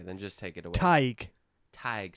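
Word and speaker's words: Tadhg: Tadgi. This one. Tadgi. I'm trying to be creative here. This one definitely sounds nothing like it's spelled. Oh, okay, then just take it away. Tig.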